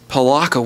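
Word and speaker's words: Pelakka: Okay, I'm not playing with the Pekala Worms. Palaka Worms.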